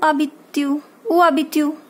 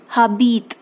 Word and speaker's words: habites: you will say u abitu. Now remember, this h is silent. Okay, so what you will pronounce it as a. This h will not, don't say habit, it's abit.